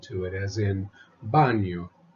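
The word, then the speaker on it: baño: cosina Cuba Carro Cocina the Enya is pronounced like an N followed by a y there is a plane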